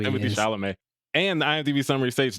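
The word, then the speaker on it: Timothée Chalamet: Williams, Ty Dolla $ign, Timothy Chevrolet, and Laura Harrier. You could at least say his name properly when we're announcing who the cast list is. They know I'm talking about Timothy Chalamet.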